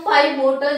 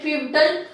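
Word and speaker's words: pivotal: इसके बाद हम पाइवोटल जॉइंट्स या फिर पिवटल जॉइंट्स की बात करते हैं। इसका प्रोनाउंसिएशन आप अपने अकॉर्डिंग कर सकते हैं, पाइवोटल या फिर पिवटल।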